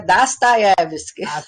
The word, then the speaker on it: Dostoiévski: vista existencial por que a pronúncia é Dostoiévski. Para nós soa meio estranho, né? é um entre um A e um O, né? Entre um A e um O, mas ou Dostoiévski ou Dostoiévski, nós estamos extremamente